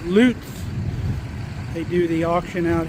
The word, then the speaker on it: Lutz: Here's the name of the company pronounced Loots.